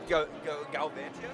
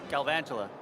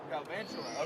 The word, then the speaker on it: Galvantula: And here, uh, is it Galvantia? Galvantula. Galvantula. Okay. Sorry, I totally butchered it the first time then.